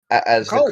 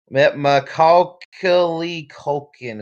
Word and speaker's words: Macaulay Culkin: He appears as the Macaulay Culkin?